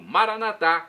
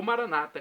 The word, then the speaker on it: Maranata: agora do Eu Clamo maranat como dizemos nós católicos com a tônica na última sílaba ou Maranata como dizem os nossos irmãos separados os protestantes ou evangélicos O significado é o mesmo mesmo com Maranata com tônica na penúltima sílaba ou maranat com a